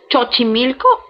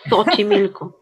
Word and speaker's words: Xochimilco: The thing is the X at the start. Xochimilco or Xochimilco?